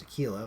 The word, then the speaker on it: Aquila: First I went with gold, and then I went in with silver, and particularly on the Aquila, which is technically pronounced Aquila, but I hate saying it that way.